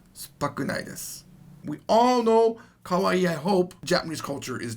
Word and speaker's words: kawaii: Now notice, kawaii has two E's at the end of it. So it's kawaii. A lot of people mess this up. They say it wrong, and it sounds like this. Kawaii. Kawaii means scary.